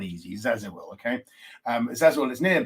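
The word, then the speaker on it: Zäziwil: i w i l now that's not easy zazil okay um zazil is near burn this one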